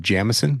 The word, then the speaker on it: Jamison: to you today Jameson or or arguably in certain parts of the country may be pronounced Jameson which is part of